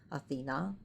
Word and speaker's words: Athena: Athena you should pronounce it like that.